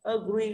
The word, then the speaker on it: agree: Ago, âm ô nhận trọng âm là go. Agree cũng thế, thì agree này là nhận trọng âm, ơ không nhận trọng âm.